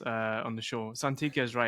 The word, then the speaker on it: Santicchia: Santicchia is right? Yeah, that's a great pronunciation.